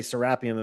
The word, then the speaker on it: Serapeum: Americans usually say serapeum. In Egypt, they say serapeum. And I've picked up the Egyptian pronunciation. I always say serapeum.